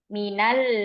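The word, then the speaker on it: مِنَ الْ: Karena iltiqa'us sakinain atau bertemunya dua sukun sehingga sukun ini tidak bisa dibaca ya. Min gimana membacanya? Maka karena darurat sehingga supaya bisa dibaca di sini diharokati fathah. Minal baiti.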